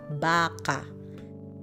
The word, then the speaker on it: baka: we're talking about animals it's just baka i'm not it's it's baca so it's it's more longer the pronunciation would be like yeah okay next one